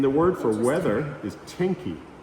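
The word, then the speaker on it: 天気: And the word for weather is teni. T E N K I. Of course, it's not teen because they don't use English, but it's the Japanese characters that are pronounced teni.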